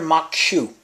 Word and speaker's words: Maque Choux: Alright, what I'm going to make tonight is called Corn Maque Choux. And it's not spelled like that, but that's what it sounds like.